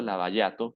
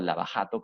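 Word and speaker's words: Lava Jato: Debido a eso es que los fiscales del equipo Lavallato, que es el que estamos viendo acá, o Lavajato, como tú lo quieras pronunciar, es una palabra brasilera, ¿ya?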